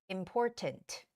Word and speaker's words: important: important important okay but in British English it's okay to make that hard T sound which would be important important if you're calling to